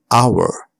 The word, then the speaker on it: hour: And sometimes it is not pronounced at the start of a word like honest and hour.